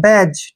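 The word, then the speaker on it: badge: silent कब होता है जी के पहले डी आए तो डी हमेशा साइलेंट रहता है डी नहीं बोला जाता है जैसे बी ए डी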